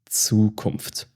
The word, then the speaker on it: Zukunft: Zukunft. Zukunft. This is the future. So it sounds like TS, Zukunft.